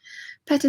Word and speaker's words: Peta: you how are you Peta says hello from a very wet North Wales and my name is pronounced just like the boy's name Peter oh sorry Peter um